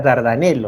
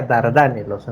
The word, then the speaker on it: Dardanelos: los apuntes he puesto no se pronuncia dardanel se pronuncia dardanelos dardos dardanelos el momento